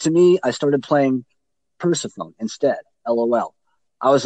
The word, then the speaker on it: Persefone: Is that how I pronounce it? Persephone, yeah.